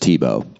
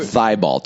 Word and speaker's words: Thibault: it that way um t-boat people always want to pronounce the t at the end um i always get